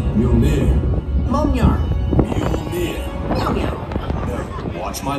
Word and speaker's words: Mjolnir: It's pronounced Mjolnir.